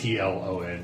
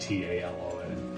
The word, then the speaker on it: Tlon: It's Tlon, not Talon.